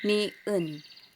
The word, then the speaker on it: 니은: So, ang tawag nito, or paano ito bigkasin is niun.